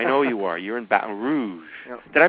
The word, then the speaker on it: Baton Rouge: all that I know you are you're in B Rouge did I pronounce that right yeah Baton Rouge batan Rouge that's how they say it batan Rouge Baton Rouge I'm I'm pretty good at lingu